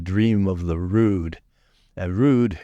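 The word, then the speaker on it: rood: of the rude and rude is spelled rou o d it means cross in Old English it's spelled r o d with a long o Road if you go to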